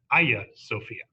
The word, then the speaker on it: Hagia Sophia: the building of the Hagia Sophia often pronounced the aya Sophia a church in Constantinople